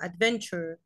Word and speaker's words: adventure: adventure. كلمة تشار، التي يو ار اي اتنطقت تشار زي كلمة picture.